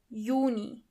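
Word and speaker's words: Juni: Yuni. As you know the letter Y is not pronounced as but as Ye.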